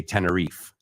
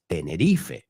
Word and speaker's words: Tenerife: In fact, Americans, we would say Tenneref, right? But that's the English pronunciation of it. But we all know it's Tenerife.